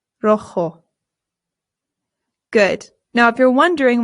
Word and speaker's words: rojo: Our next one is rojo. Rojo. Rojo. Remember that the J makes a H sound. Rojo. Good. Now, if you're wondering why there's an A right here, that's because sometimes rojo is used to describe